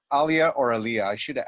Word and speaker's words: Alia: Is it pronounced Alia or Alia? I should have asked you that. It's actually Alia, but Alia, I don't mind Alia, so I didn't correct you. It's Alia sounds just as good, if not better.